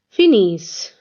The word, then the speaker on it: finit: for je it is finis, for tu it is same, finis. As you can see, the add-on is same. For il, elle singular it is fini, t is silent.